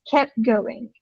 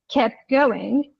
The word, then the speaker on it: kept going: So if you listen carefully, you wouldn't hear people pronouncing letter T. It's kept going, kept going, kept going.